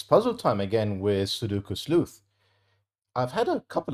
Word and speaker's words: Sudoku: I've had a couple of comments actually over the last handful of videos about my pronunciation of the word Sudoku, which in Japanese is meant to be Sudoku, I believe.